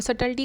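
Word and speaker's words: subtlety: और सटल्टी का मतलब है फाइन यानी नाजुक, यहाँ भी बी साइलेंट है।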